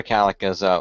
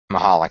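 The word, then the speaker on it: Michalek: Connor, for those of you who might not know, Connor McCallick was an 8-year-old boy who was diagnosed with, unfortunately, a pediatric brain tumor. And he brain passed. Cancer. I believe it's pronounced Mahalik. Mahalik, thank you, Mahalik.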